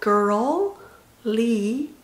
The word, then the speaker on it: girly: curl이라는 단어의 curl 발음을 정확히 먼저 해준 다음에 li 찢어야 돼요. curly, curly. girl 이것도 마찬가지로 명사 girly, girly, girly, girly.